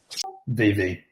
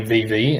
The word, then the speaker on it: VeVe: Do you prefer the pronunciation Vivi or Vive? VV. Initially, it's always been VV, and it used to